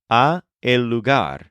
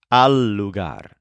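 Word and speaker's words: al lugar: the so for example to the place is not augar it's alugar this word is spelled a l Al and in fact this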